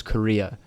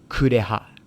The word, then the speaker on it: Kureha: So she says her name is Korea, which is wrong. It's Kureha.